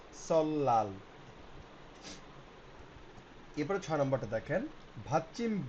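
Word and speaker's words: 설날: সেক্ষেত্রে বলছে সলনাল নববর্ষ উচ্চারণ হচ্ছে হবে সলাল।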